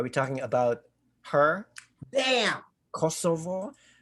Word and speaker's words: Kosovo: talking about her damn kosovo or or as they would pronounce kosova kosova is she's 23.